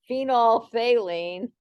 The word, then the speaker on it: phenolphthalein: know that name but phenolphthalein you always kind of have to spit a little when you say it if you say it right so I try not